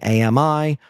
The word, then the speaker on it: AMI: of cases of amazonians mispronouncing Ami with two syllables as opposed to its proper three announcing Amazon ec2 i8g